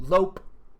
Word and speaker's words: lope: hold on lope yeah I was right lope L uh you pronounce it like it's LP so lope um lope to